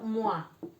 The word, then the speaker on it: moi: Después la O con la I. Se pronuncia como UA. Con, por ejemplo, moi, que quiere decir yo. Moi, toi, tú.